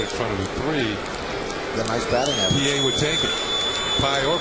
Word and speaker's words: Pie: The batter's name is Felix PA, but it's spelled pi.